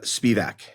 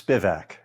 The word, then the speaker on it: Spivak: to be here it for what little difference it makes it's spivac very good thank you